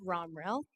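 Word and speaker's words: Romriell: spell it I can't it's a tricky one pretend the I is not there the English language I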